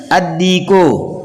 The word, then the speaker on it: الدیک: پڑھیں گے، البیت گھر، الدیکو مرغا، یہ حروف شمسیہ میں سے دال ہے، اس لیے یہاں پر لام کا تلفظ نہیں ہوگا بلکہ دال کا تلفظ کریں گے، الدیکو مرغا، المدرس استاد،